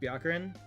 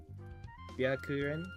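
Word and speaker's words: Byakuren: going to turn into me learning how to pronounce tooho names dude ka okay kn ka Isn't this just Bakarin? Byakurin.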